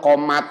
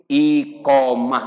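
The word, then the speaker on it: إقامة: Dibacanya kumaha Pak? Qomat. Tak gitu. Tulisannya apa? Iqomah. Dibacanya qomat. Ya kan? Ada orang Arab mau ngartiin komat naon? Komat itu. Dua kesalahannya. Satu taknya tak marbutoh. Kalau dalam keadaan mati harusnya hak bunyinya. Dua i-nya hilang. Tuh kan dua salahnya.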